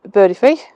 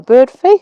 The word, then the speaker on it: Birdfy: last couple of weeks I was contacted by Birdy fee or bird fee I think it's pronounced um and they contacted me and asked